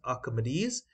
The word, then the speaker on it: Archimedes: Now, the pronunciation is given as Archimedes.